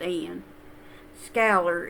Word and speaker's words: Iain Scoular: stuff wrong but I specifically heard him say Ian scaler it's pronounced it's it's spelled a little different it's i-8-i-n that's his first name but it's pronounced in scalar is spelled s-c-o-u-l-a-r in case you want to